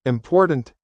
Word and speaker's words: important: For example, in the word important, the stress is on the middle.